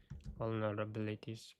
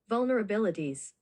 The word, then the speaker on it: vulnerabilities: How do you say this again? Vulnerabilities. Vulnerabilities. Vulnerabilities pronunciation. Vulnerabilities. Vulnerabilities. Okay, B. This This is where the emphasis is.